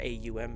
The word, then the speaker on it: Om: The most common one is the Om, the OM sound, or AUM if you're saying it phonetically.